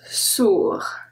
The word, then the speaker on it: sourd: So if we add a E to make it a feminine adjective, it's going to be sourde, then we pronounce the D. But because there's no E at the end, we don't pronounce the D. Sourd. Next one is F.